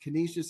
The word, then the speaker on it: Canisius: minus 12 against Canisius Canisius is how you pronounce the school okay Tito I would